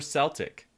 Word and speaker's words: Celtic: the celtic lands and yes you can say it celtic or celtic because i googled it that's how i know